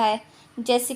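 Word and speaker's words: hedge: ये हमारा D silent, इसको पढ़ेंगे हैज।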